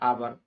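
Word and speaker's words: hour: एन आवर is enough, क्योंकि आवर में H silent होता है, यहाँ पर अ का उच्चारण होता है आवर, इसके हिसाब से यहाँ एन का प्रयोग होगा।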